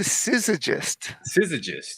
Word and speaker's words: Syzygyst: sit how do you say that again executive scissorgist okay scissor just yeah I knew I had